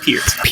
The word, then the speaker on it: Peart: pronounced Peart.